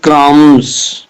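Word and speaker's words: crumb: bird is eating bread क्रम यहां पे बी क्या है जो ना वो हमारे पास साइलेंट है क् उसने कहा था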